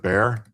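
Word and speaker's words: Bexar: They pronounce it bear.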